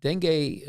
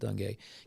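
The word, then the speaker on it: dengue: And uh the s denge uh and I'm going to spell it. It's d n g u I pronounce it day can lead to symptoms like high fever, severe headache, nausea, and vomiting.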